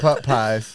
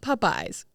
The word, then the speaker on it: Popeyes: Why did I call it putt pies? Okay, first of all, I've just always said it this way, and I don't know why. But Popeyes. Is that not how you say it? Popeyes. But it's But not. if you But s- it's Popeyes. Popeyes. Popeye, the same Popeyes.